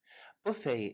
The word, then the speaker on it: buffet: Buffet is a French word in origin, so we do not pronounce the T.